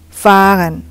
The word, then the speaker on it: fahren: fahren, ihr fahrt, sie fahren. Untuk vokal ketemu H itu juga harus dibacanya lebih panjang. Jadi fahre, fahren, fahrt. Jadi jangan fahrt, nggak ada artinya juga dan aneh. Jadi harus fahren, panjang.